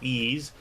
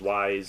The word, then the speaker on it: Ys: holman hold it Oman's I know it's pronounced ease but I was used to brown said as wise so I still pronounce